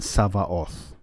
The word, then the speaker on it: Savaoth: I would like to note that I am using the Koine pronunciation of the letter Veta, so you will hear it as a V sound and not a B sound.